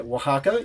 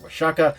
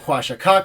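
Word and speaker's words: Oaxaca: the zapex in nearby Waka yes I know I called it wasaka the Aztecs would have called it hakak so my pronunciation wasn't terribly off the map on screen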